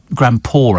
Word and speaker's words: grandpaw: Grandpaw, I think it must be, because it rhymes with saw.